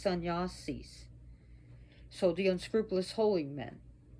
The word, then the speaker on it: sannyasis: Yeah, sun, it's got to be pronounced sannyasis.